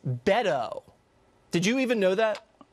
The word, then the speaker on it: Beto O'Rourke: wrong from the jump it's Beto O'Rourke not bado it's Beto did you even know